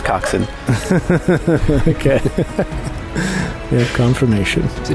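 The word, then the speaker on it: coxswain: in your heads coxen I'm told this just in I hear it's coxen okay we have confirmation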